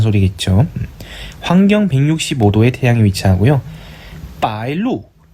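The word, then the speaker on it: 白露: 빠일루, 하크로라고 읽습니다.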